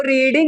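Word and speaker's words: read: की third form, तो रीडिंग लिखा है ना, रीडिंग है ना, फर्स्ट फॉर्म रीड होता है ना, थर्ड फॉर्म क्या होगा? इसको रेड पढ़ते ना, प्रोनाउंसिएशन का रेड होता है, रेड हुआ।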